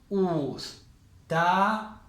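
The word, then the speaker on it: أستاذًا: Entonces, como es del alfabeto, sí o sí, este fathatein va acompañado de un alif que no se pronuncia. Y esto se leería ustadan.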